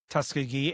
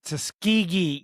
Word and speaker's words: Tuskegee: and they were like, it's Tuskegee, and I was like, sorry. Tuskegee. Yes, I say yeah. Tuskegee. Tuskegee. Because this is the way it's spelled. It has a G in it.